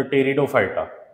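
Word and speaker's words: Pteridophyta: ब्रायो आणि टेरीडो तर टेरिडोफायटा टेडोफायटाची spelling लिहित असताना पी वापरतात ते बघा इथ दिसते उच्चार मध्ये तर हा जो मी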